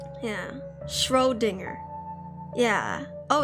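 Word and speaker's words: Schrödinger: Scodinger.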